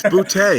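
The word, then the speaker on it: Boutte: It's Butte, but yeah.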